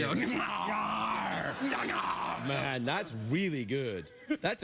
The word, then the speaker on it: Gnarr: Gnarr.